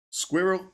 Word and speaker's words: squirrel: Canada the word squirrel I thought nothing of this pronunciation everybody said it pretty much like I do now squirrel squirrel squirrel and then I realized how Americans say it and it's more like squirrel which kind of sounds like you're pronouncing the word squirrel with a squirrel squirrel squirrel squirrel bunch of nuts in your mouth which is what squirrels